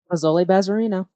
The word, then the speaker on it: Bazoli Bazerino: Is that how you pronounce the name? BAZOLI BAZERINO.